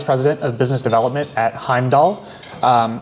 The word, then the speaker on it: Heimdal: I'm the vice president of business development at Heimdoll. Um I know it's not always obvious how to say the name of the company based on how it's spelled, but it's Heimd Doll.